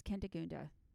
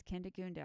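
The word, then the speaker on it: Kindegunda: can find her yes what's my name it's kendagunda so oh it's what it's kinda goondo i'm gonna spell it for you are you ready it's k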